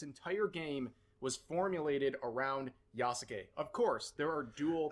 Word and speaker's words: Yasuke: It's pronounced fucking Yasuke.